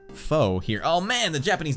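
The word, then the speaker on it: pho: this hill yeah Fair all right foe is pronounced foe here oh man the Japanese know what's going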